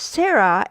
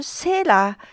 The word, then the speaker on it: Sarah: If your name is Sarah, and if you directly change that into Katakana, you may write Sara, but your name is actually pronounced closer to Sera, then that's what you should use.